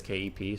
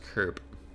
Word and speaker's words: Koepp: My last name is Kep, Koepp, but you can literally just say it as Kep. So I have a 5-letter last name with 2 of them being silent. And in German it's supposed to be pronounced Kerp, but it got Americanized over a couple generations.